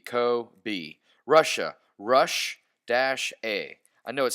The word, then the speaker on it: Kobe: Kobe is in Kobe Bryant or Kobe Japan. CO-B, Kobe.